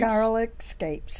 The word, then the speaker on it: garlic scapes: With how do you pronounce it? Scapes? Garlic scapes.